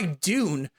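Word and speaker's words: Dvne: Or Itimin Enka by Dune, which is pronounced D-V-N-E. So Dune with a V because it's more true, but it's not a black metal band.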